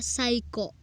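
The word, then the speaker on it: 最高: tidak mengerti untuk oh psycho cycho artinya keren dibaca Saiko Saiko huruf u itu adalah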